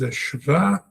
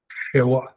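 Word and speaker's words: שווא: Uh, Jews from Europe pronounce it as ava. depends which tradition and community you come from, but it is a sha shawa. In the Israelite tradition, I would like you to pronounce it as a sha.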